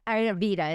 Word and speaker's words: Ayurveda: So you came into Ayurveda. Is that how you pronounce it?